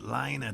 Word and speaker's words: Lena: not look impressive but liner designed them quite cleverly so I'm sure they'll do the trick uh let okay so you pronounce it later so I'm gonna say that as well Lena designed the traps yes